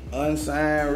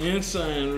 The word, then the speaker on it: Ensign: Unsigned Red? Ensign Red. Whatever this say? I think it say Ensign. I pronounced it right.